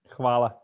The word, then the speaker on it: Hvala: Hvala. Hvala. Yes, perfect. Hvala.